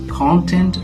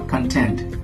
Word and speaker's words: content: Do you pronounce it as content or content? Which one is correct? Actually, both of them are correct.